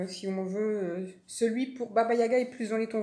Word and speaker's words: Baba Yaga: à part qu'on propose on prononce comme ça l'objet magique de baba yaga alors qui est pas bayaga donc dans cette dans